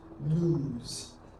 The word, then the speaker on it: lose: pronunciation as this first word so it is pronounced as Lee long o and then Z which is what lose and the word has uh two forms of